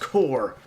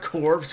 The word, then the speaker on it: corps: corpse he goes it's it's pronounced core not corpse come on she's like